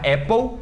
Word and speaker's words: apple: detalhes sobre isso, mas tá vendo que Apple tem dois P's? Esses dois P's não estão aí por um acaso. Quando a gente tem letras duplas em palavras em inglês, ela é uma forma de acento. Geralmente ele encurta a vogal. Então, uma vogal curtinha, Apple, seria uma vogal longa, Apple.